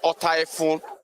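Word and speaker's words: Ota-Efun: Like you rightly said, the right pronunciation of that place is Ota Efun, right here in Oshogbo.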